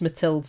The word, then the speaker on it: Mathilde: So it's Mathilde, but it's spelled like Math-Ild. Right, okay. But it's Mathilde. I think it's just because it's French, you know?